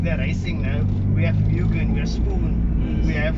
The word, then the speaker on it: Mugen: It's Mugen, by the way, it's not Mugen or Mugen, it's Mugen.